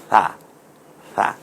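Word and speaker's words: ث: এখন এই 3টাকে আমরা মিলিয়ে পড়ে, সাটা নরম আওয়াজে জিহ্বার আগা সামনের দাঁতের আগার সাথে মিলিয়ে উচ্চারণ করুন, সা সা।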